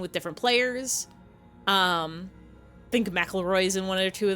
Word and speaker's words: McElroy: Ever since I learned how McElroy is pronounced, I read it as mackerel.